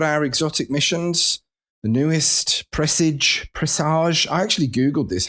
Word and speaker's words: Presage: And then we've got our exotic missions, the newest, Presage. I actually Googled this, how to pronounce Presage. It is Presage, even though Presage sounds a bit more kind of majestic, doesn't it?